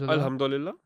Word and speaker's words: Alhamdulillah: I think when you're in Dubai, other than Islam, you hear the words Alhamdulillah. Am I saying it right? Yeah. Alhamdulillah.